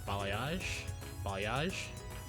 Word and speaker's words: balayage: In addition to solid colors, you can further customize your hair with color blocking and balayage.